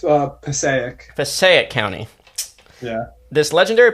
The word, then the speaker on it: Passaic: Leave it to a oh it's it's uh Passaic Passaic County yeah this legendary pathway passageway leads